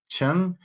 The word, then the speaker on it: Chung: real name is Ethan Chung. It's spelled Chung, but it's the Korean pronunciation and not the Chinese one.